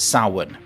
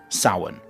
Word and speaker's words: Samhain: So the ancient Celts called it Samhain. Now this word, Samhain, is spelt Samhain. Just to confuse people even more, the spelling and the pronunciation are completely different.